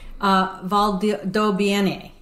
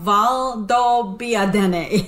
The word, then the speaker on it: Valdobbiadene: Okay, so Pam, help me pronounce this. You say the first one. Okay. Conegliano. Conegliano. Something like that. Valdobbiadene. No, Valdobbiadene.